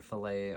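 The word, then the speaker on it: filet: I never heard it pronounced but it's either filt or fillet crochet. Uh I think filt crochet rhymes too much so I call it fillet crochet.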